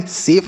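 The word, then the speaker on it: safe: एस ए एफ ई तो एस से पढ़ते हैं आपका स ए से बच्चों ए की मात्रा पढ़ेंगे एफ से पढ़ेंगे फ और शब्द में लास्ट में इ रहेगा तो नहीं पढ़ेंगे सेफ मतलब होता है सुरक्षित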